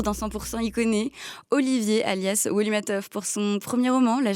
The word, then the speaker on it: Woli Matthov: Ça se prononce bien comme ça, Wolimatov ? C'est parfait, c'est ça.